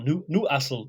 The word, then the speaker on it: Newcastle: Shield is a jordi's Newcastle or new new CLE as they pronounce it there so he's got a